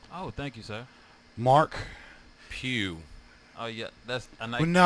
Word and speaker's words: Pugh: I've heard Pudge. I've heard Pudge. Pugh. What else have I heard? I could see. I've heard. I could see puke.